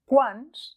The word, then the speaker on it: quants: Quants planetes has visitat? Molt bé. Fixa't que a la forma del masculí singular, quant, i del masculí plural, quants, la te no es pronuncia.